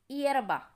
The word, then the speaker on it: hierba: But if we have the word starting with the word letter H-I-E, it's pronounced different, like A. Hierba. Hierba. Okay. So we don't use A. We use E. Árboles y hierba.